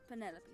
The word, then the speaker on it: Penelope: Officially, yes, but I never can be bothered with all 4 syllables of it. Penelope sounds a little ostentatious coming out of the mouth, don't you think?